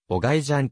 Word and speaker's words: オジジアン: が入るなお日本の書籍などでは当馬の名前をオジジアンと記述するのが一般的だが現役時代のオーナーはお外じゃんと発音するのが正しいとしている名前の由来は